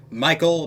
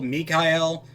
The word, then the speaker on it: Michael: to be including everything ranging from the archangels Michael Mikel if you prefer Raphael Gabriel and Uriel or Ariel depending on your pronunciation and these are going to be the